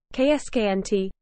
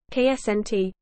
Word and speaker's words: Coruscant: Canon the pronunciation is ksnt with the second C being silent and with stress on the first syllable